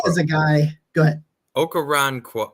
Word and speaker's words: Okoronkwo: Ogbonnia Okoronkwo. Okoronkwo. That's how you say it.